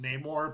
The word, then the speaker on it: Namor: with how awesome like namora was in that movie like is it is Namor or Neymar because I always call them Neymar well like in the comics and stuff it's pronounced Neymar but like in the